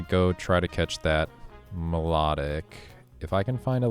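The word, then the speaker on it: Milotic: I guess it's not Miloic, it's melodic because that sounds like, you know, melody.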